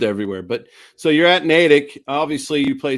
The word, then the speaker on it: Natick: Natick? Natick.